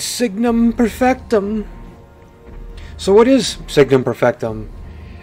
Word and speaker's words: Signum Perfectum: it it could be numerous other types of pronunciations but in my mind i go harry parter and i'm like harry it's signum perfectum so what is signum perfectum it's a collectible